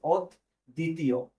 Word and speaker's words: অদ্বিতীয়: একটা নিয়মে আমরা শিখছিলাম ব যদি কোন শব্দের মাঝে থাকে তাহলে ব এর উচ্চারণ হয় না কিন্তু যেই বর্ণটার সাথে